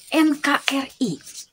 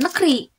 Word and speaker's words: NKRI: ya contoh nih KTP bukan Ketep ya tidak dibaca Ketep tapi tetap KTP die Eja ya atau misal contoh lain NKRI bukan Negeri tetap NKRI karena itu Dis e karena itu termasuk singkatan maka dibacanya atau dilafalkannya itu dengan cara dieja NKRI ada yang tahu